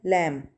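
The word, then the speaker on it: lamb: तो यहां पे बी साइलेंट लेटर होगा। लम जब बोलते हैं प्रोनाउंस करते हैं तो बी की साउंड प्रोनाउंस नहीं कर रहे होते।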